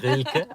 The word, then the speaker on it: Rilke: You have to be German to pronounce that name, or Austrian. Yeah. Rilke, R-I-L-K-E.